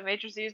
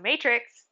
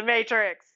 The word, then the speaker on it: matrix: had to just learn how to make multiply matrices together I feel really bad because I was